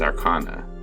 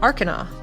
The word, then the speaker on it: Arcana: or uh technology check which is Arana I believe you'll find it's pronounced Arcana oh I'm sorry you